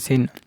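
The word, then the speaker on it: س: মূলত এই দুইটি হরফে ভুল হয়, সদ আর সিন। এটা শক্ত করে পড়বেন, এই সিন এটা স্বাভাবিক উচ্চারণ হবে।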